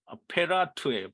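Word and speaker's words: פרת: 유브라데는 이 히브리어로는 페라트예요, 페라트.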